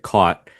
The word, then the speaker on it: caught: So for me, the first one again is caught and then cot. Mm. So there are different vowels there.